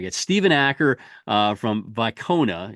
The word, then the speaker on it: Wicona: Stephen AER uh from vona it's spelled with a W but it's pronounced with a V uh I I probably